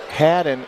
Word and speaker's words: Haddon: One of our listeners out there called to my attention that I pronounced Haddon incorrectly. I said Hayden. There's a double D there.